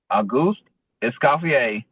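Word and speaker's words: Auguste Escoffier: So, the way you pronounce pronounce it is a goose escapier, school of culinary arts.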